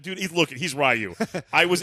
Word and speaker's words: Ryu: I'm a Ryu man. Or Ryu. I called him Ryu because that's what we called him at like 8 when I was 8 years old. Like that's pronounced Ryu. And then I get all the guys that get real snobby about it. It's Ryu. It's Ryu. And then they keep doing like the Japanese accent.